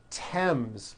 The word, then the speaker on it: Thames: Although these next words and names are spelled with a TH, they are pronounced as if they were spelled with a normal T, like that.